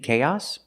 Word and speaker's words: chaos: With chaos, the stress is on the first syllable on the a sound. K. Chaos.